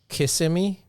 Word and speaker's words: Kissimmee: because Kissimmee is how you pronounce it Kissimmee was on the